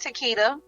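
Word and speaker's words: Taketia: find you okay my name is um it's pronounced Takeda spell t-a-k-e-t-i-a last name m-o-r-g-a-n and my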